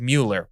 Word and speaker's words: Mueller: They always said Mueller, but It's like Bueller, but Mueller, and this is spelled it the same way.